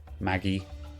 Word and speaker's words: Magi: gift sub much appreciated Magi Maggie it's a soft G okay very well thanks